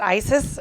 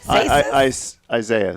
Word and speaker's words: Isaias: Is it ISIS or ISIS? Isaias. Isaias? No, it's not Hurricane ISIS.